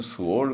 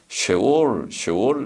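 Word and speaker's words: שאול: 우리는 스올, 우리 성경에는 스올 그리고 히브리 말로는 쉐올, 쉐자를 짧게 발음하는 쉐바, 쉐와, 그래 쉐와 그러는데 쉐올, 스올에 가까운 쉐올.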